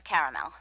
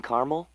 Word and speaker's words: caramel: Periwinkle, Loden, or caramel? The caramel, please. The what? I'd like it in caramel. Oh, the caramel? Yeah, that's what I said, Tina. Actually, you said caramel when it's pronounced caramel.